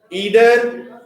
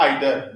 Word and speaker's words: either: Next is distributives each, every, neither, either, It can also be read neither or either. Both the pronunciations are correct.